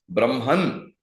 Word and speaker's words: Brahman: the Creator Creator D is Brahma Brahman or Brahma as the short at the end is the Supreme Being okay that's why if